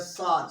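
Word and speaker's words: صاد: So you must make sure you do not move your lips when pronouncing the sword.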